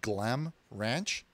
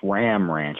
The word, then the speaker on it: Ram Ranch: Okay, so you said he works at a place called Glam Ranch? No, he works at a place called Ram Ranch. Okay, spell it for me. G-L-A-M? No, it's R-A-M. It's Ram Ranch, not Glam Ranch.